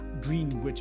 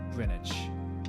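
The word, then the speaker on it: Greenwich: what the heck what what do you mean green wit is pronounced grenwich so weird people are bad before they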